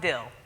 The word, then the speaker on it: Diehl: my last name is pronounced d so like cheese and pickle okay all right so